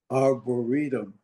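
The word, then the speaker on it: Arboretum: He also developed an elm program with um correct me if I'm mispronouncing um Morton Aberinium to enhance tree health. Arboritum.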